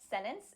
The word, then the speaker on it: sentence: Ooh, I say sentence, and I've gotten so many comments of people saying, Vanessa, why do you pronounce it like that? How did you say that? Well, this is a lovely concept called the glottal T.